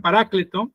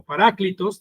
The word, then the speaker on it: Paracleto: en esa palabra consolador, en griego es la palabra paracleto, o algunos la pronuncian parácleto o paráclitos, dicen otros, pero esa palabra significa